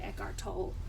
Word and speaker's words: Eckhart Tolle: The Power of Now by Eckhart Tolle is how I pronounce it. I think some people say Eckhart Tolle, but so I got this book, and I'll tell you a little thing.